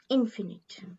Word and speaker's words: infinite: I would suggest is the word infinite should be pronounced with the accent on in yes very good that is the correct British pronunciation infinite very good very good